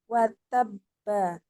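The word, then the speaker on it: وَتَبَّ: Watab watabba, Nah, gitu. Cara bacanya seperti itu. Cuma dia akhirnya bukan kita baca watab gitu. Tapi kita qalqalah, kita pantul huruf terakhir.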